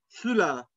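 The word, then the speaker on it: Füller: لانها مش او بس، ده او عليها املاوت فبضم بقي قوي فبقول فولا، فولا، فولا. الكتاب بوخ، اللي تسي ها هنا بتتنطق زي الخه بتاعت العربي كده، بوخ، بوخ.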